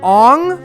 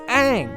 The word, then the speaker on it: Aang: call each other by these mispronounced names like aung the monk's name on that no it's aang did you even watch